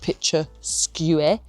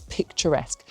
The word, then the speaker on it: picturesque: I know it looks like picture-skew- but it's picturesque.